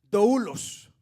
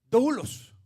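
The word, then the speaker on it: δοῦλος: Y es la palabra, esa es una palabra griega que se pronuncia doulos, la cual quiere decir siervo o esclavo, una de las dos.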